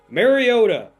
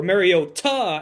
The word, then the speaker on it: Mariota: Mariota or Mariota as Chris Collinssworth said over the game. That might be the correct way to pronounce it.